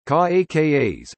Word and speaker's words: Caracas: Caracas, Spanish pronunciation, Caracas, officially Santiago de León de Caracas, is the capital and largest city of Venezuela, and center of the Greater Caracas area.